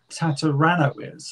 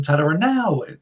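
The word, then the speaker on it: Tataranowicz: And then I thought it was Tom Tataranowitz. And then after like 10 years of knowing, it's like, oh, it's Tom Tataranowitz.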